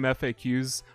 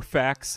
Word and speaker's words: FAQs: I haven't played through a video game completely in Japanese with a game FAQs, or facts, however you want to pronounce that, guide in forever, but,